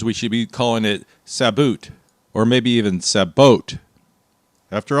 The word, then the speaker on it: sabot: should be calling it saboot or maybe even sabot. After all it's pronounced like sabotage. For reference, this is a word of French origin. In French, this is said as sabu. Sabu.